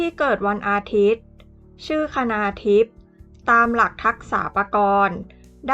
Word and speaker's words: คณาธิป: ชื่อ คณาทิพย์ กัน ค่ะ คณาธิป สะกด ด้วย ค ควาย น เณร สระ อา ธ ธง สระ อิ ป ปา อ่าน ว่า คณาทิพย์ สะกด ด้วย ภาษา อังกฤษ